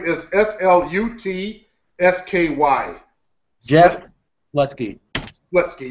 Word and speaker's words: Slutsky: Slutsky, yeah, like a slut. And ski. And ski.